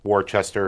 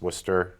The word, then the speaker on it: Worcester: of our cities um it's not Worchester it's Worcester it's not hah Hill